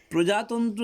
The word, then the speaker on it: প্রজাতন্ত্র: প্রজাতন্ত্র দিবস, স্বাধীনতা দিবস, শিক্ষক দিবস, শিশু দিবস। এখানে 14ই নভেম্বর, 15ই আগস্ট, 26শে জানুয়ারি, 5ই সেপ্টেম্বর। প্রজাতন্ত্র দিবস, প্রজাতন্ত্র নয়, পয় রফলা আছে, তাই উচ্চারণটাকে সুন্দর করে করতে হবে।